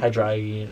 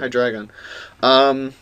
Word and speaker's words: Hydreigon: Hydreigon. Or, Hy- yeah, so, you know, some Word. people don't pronounce it. Hydreigon.